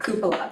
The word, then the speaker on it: cupola: Their application is requesting financial support for Can you tell me how to pronounce that word? Cupola.